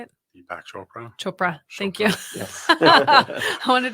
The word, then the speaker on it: Chopra: change enough people's minds that's so wonderful deac choa right is that how do you say it deac Chopra choa thank you I wanted to say shopin